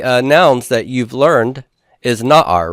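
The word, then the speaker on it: נער: Now, one of the nouns that you've learned is na'ar, right? Isn't that one of the nouns you've had? Na'ar is a youth, a lad, a boy. Notice that this has first syllable stress here, but not the double segol.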